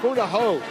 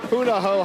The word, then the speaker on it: Punahou: all right this is the Buddha who Buddha ho I keep mispronouncing it it's Punahou high school marching band from